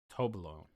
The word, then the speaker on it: Toblerone: Toblerone.